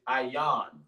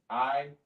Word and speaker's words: ayin: It looks like a circle, but it's pronounced I. And the word is ayan. I-yan. I-Y-A-N.